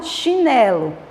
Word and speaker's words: chinelo: sílaba tônica dessa palavra da mesma forma chinelo chinelo o né é a sílaba tônica dessa palavra café trânsito amigo amém